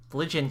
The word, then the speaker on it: Phrygian: Here's how you pronounce it, a Phrygian cap.